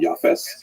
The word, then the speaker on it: Japheth: And I should pronounce that, by the way, in the Ashkenazic pronunciation, Japheth.